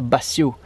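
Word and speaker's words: vacío: Pra janta vamos fazer essa carne aqui, que se chama vacil, aqui você pronuncia bacil, que é tipo pra fazer um assado, vamos fazer no forno.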